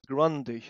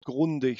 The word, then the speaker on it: Grundig: And I have some evidence for that, because you said Grundig. Now, on that one, I can tell as a German, it's called Grundig.